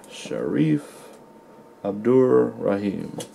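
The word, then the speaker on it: Shareef Abdur-Rahim: card sharif abdul i always get his freaking name wrong let me read it on the back let's see it's sharif abdur rahim all right that's his name rookie card i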